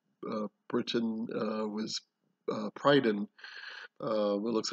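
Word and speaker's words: Prydain: britain uh was uh prydon uh it looks like it's spelled prydane but again using the same uh pronunciation it's it's uh an on sound at the end and not an ane so that's why you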